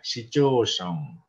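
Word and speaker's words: 市町村: Kemudian ada Machi Mura dibaca Shichosong.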